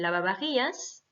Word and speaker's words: lavavajillas: dire le lave-vaisselle, el lavavajillas. Donc, il y a à chaque fois VA, VA. Hein, attention, le V se prononce B, donc el lavavajillas.